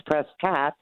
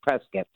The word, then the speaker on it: Prescott: from I guess if it's California it's presat and if you're from Arizona it's Prescot yes presc it's like biscuit but you do because